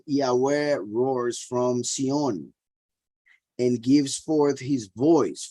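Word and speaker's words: Zion: Roars from from cyan right xion the true pronunciation and he said Yahweh Roars from Sion and gives forth his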